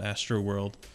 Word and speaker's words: Astreaux World: ambient radio station called Astro World. That's spelled really funny. It's not like Astro. It's like some bizarre French spelling, like ASTREAUX World.